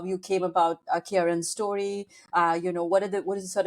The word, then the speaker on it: Ciarán: Is that how you say it? Ciarán? Ciarán, technically. Ciarán.